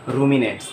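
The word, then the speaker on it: ruminants: अब देखिए यहाँ पर एक टर्म मैं लिख रहा हूँ, रूमिनेंट्स, प्रोनाउंसिएशन क्या है बच्चों, रूमिनेंट्स।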